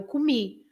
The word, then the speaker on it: comi: Because eu como is the present, I eat, and then in the past, eu comi. And you stress the last syllable. You say comi.